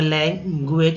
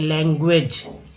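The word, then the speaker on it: language: लैंग्वेज, लैंग्वेज, यहाँ यू का उच्चारण ई यू की तरह किया गया है, उच्चारित करते हुए बोलते समय ई यू।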